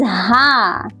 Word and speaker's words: ہ: In this letter, we pronounce this letter from our chest.